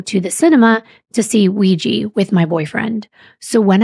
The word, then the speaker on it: Ouija: Wikipedia actually says ouija and it explains that the belief has always been that the word ouiji or ouija comes from the French oi and German ja. The words for yes and I might even be